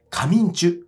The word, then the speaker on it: 神人: シャーマンのことを神人と書いて上中と呼ぶんですねですから